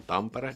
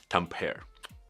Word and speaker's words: Tampere: when there was this NHL games held in Tampere, and they were interviewing this one NHL player, American. They pronounced the Tampere, where the city where the game was held, Tampere.